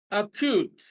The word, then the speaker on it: acute: the first syllable colleague be acute second syllable C extends second syllable